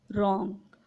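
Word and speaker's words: wrong: Word में डब्ल्यू हो और उसके बाद आर हो तो डब्ल्यू साइलेंट होगा। For example रॉन्ग।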